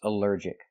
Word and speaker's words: allergic: Our next word is allergic. Allergic is three syllables. Allergic. The stress is on the second syllable.